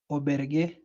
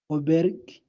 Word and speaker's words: auberge: So that word is said as Oberg. yeah, you're almost there, but it's auberge. Remember that letter we said letter J. J. The sound was J.